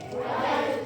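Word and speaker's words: write: Kita kayak ngbaca right-nya doang, tapi pakai W di awal. Jadi right gitu. Right.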